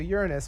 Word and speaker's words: Uranus: i do before we move on to to uranus which is actually how it's pronounced guys i looked it up before i move on to uranus i do want to uh to emphasize that